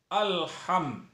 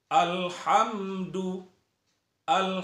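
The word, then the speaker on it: الحمد لله: tidak boleh itu salah Jadi alham ha emudian me mati bertemu dengan huruf Dal itu izhar syafawi tidak boleh berdengung banyak orang membacanya ya alhamdulillah itu tidak boleh jadi harus dijelaskan alhamdu lillahil hamdu lillah itu tipis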